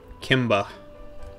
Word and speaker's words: Kimba: Kimba. Like, female Kimbo. You gotta spell that for me. It's like Kimbo, K-I-M-B-A. Oh, okay. Like Simba with a K?